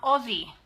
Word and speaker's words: Aussie: Australia begins with the letters A-U-S, Which says Oz.